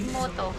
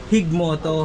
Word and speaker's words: Gigmoto: nakakasakop dito e gigmoto Anong pronunciation ba nung G hig Moto hig Moto hig Moto Oo Anong